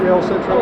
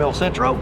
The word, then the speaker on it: El Centro: Am I saying it right? Is it El Centro? El Centro, yeah. El Centro, okay.